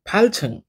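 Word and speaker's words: 팔층: जस्तै चार तल्ला भनेर भन्नु पर्यो भने कसरी भन्ने त साछङ साछङ हो साछङ अनि आठ तल्ला फाल्छङ हो कि हैन फाल्छङ फाल्छुङ याद गर्ने है उच्चारण राम्रो गर्नु भनेको लिसनिङका आधि कोइसन हल गर्नु हो के। त्यही भएर उच्चारणमा ध्यान दिने ल यो छुङ भनेको तल्ला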